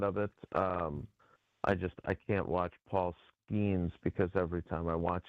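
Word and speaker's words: Skenes: I can't watch Paul Skeens because every time I watch him, I hear Tausch mispronouncing his name as Paul Skeenis, which rhymes with another word.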